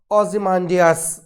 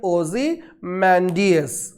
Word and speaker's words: Ozymandias: क्या प्रोनाउंस करते हैं इसको प्रोनाउंस करते हैं ओज़िमांडियस। ओज़िमांडियस, right?